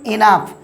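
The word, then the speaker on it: enough: তারপরে দেখুন ই এন ও ইউ জি এইচ উচ্চারণ দেখুন ইনাফ মানে ভিউয়ারস আমরা জানি যথেষ্ট তারপর আরেকটি উদাহরণ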